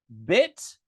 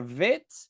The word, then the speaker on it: Bet: Bit or vit. This is a B sound.